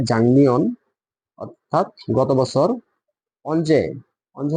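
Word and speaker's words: 작년: আর এখানে দেখেন যে জাংনিয়ন, ঠিক আছে, উচ্চারণটা হবে জাংনিয়ন, অর্থাৎ গত বছর।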